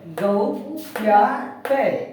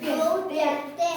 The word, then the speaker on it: ಗೌಪ್ಯತೆ: ತೆ ತ ಗೆತ್ವ ತೆ ಗೌ ಪ್ಯಾ ತೆ ಕೂಡಿಸರಿ ಗೌತೆ ಹೇಳಿ ಗೌತೆ ಅಲ್ಲ ಅದು ಪ್ಯಾ ಇದು ಪ್ಯಾ ಅಂತ ಉಚ್ಚಾರ ಮಾಡಬೇಕು ಗೌಪ್ಯತೆ ಎಸ್ ಗ ಕೌತ್ವ ಗೌ